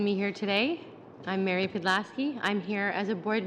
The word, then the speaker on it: Pidlaski: Turning to Villa Rosa Incorporated, and I may have this name wrong, Ms. Pedlasky. That's correct. Okay. Thank you for having me here today. I'm Mary Pedlasky.